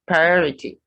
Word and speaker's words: priority: procrastinate priority not priority the first r and second r must be pronounced priority then postpone no r